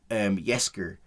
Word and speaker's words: Jaskier: this in season 2, is just Geralt and Jaskier. That's how you pronounce his name? Jaskier.